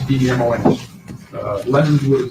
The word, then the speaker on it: Demons: It's pronounced Demons, D-E-M-O-N-S.